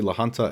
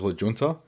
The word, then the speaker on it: La Junta: And in this next clip I actually referred to La Junta as La Junta, but it is spelt with a J, so you got to cut me some slack and go easy on me there.